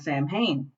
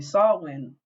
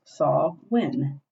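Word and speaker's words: Samhain: Hallows Eve was actually a Celtic tradition called Sam hay and we pronounce it Sam Han because we are not educated it's actually saw when because we don't actually none of us speak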